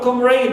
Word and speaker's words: comrade: Also for comrade, the same thing. We stress the first syllable, right, but not the suffix raid.